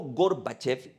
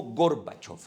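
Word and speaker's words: Горбачёв: por la cual eh se puede pronunciar de ambas maneras como gorbachev y como gorbachov no Por qué Porque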